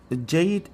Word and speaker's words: Jad: Jade or Jad, it's same meaning, but we pronounce it as Arabic name is Jad.